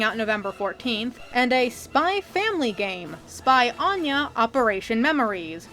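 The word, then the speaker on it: Spy × Family: November 14th and a spy Family Game Spy Anya operation memories coming out next year yes the x is silent you're supposed to know that I've heard this series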